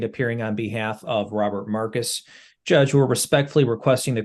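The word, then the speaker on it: Marci: just spell it differently it's m a r c i but it's pronounced Marcus that's correct your honor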